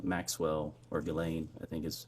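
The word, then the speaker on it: Ghislaine: it's been public reported that in 2024 uh Gelain Maxwell or Gileain I think is how it's pronounced arranged and wired $1 million to publicist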